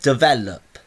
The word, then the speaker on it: develop: develop develop well actually for develop that it has three syllables duh there and look so duh develop actually my ver sound is where I go up in pitch so that's my stress so I don't have